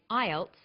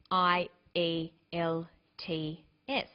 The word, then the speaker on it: IELTS: is called an acronym with an acronym we don't pronounce the individual letters we pronounce it as a word so we say IELTS not I al t f some other examples of